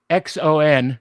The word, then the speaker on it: Xon: X O N, pronounced Xon, was selected by the Vulcan Science Academy to attempt exactly that.